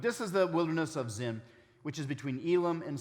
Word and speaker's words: Sin: sin actually it's pronounced the hebrew is pronounced zin some have speculated well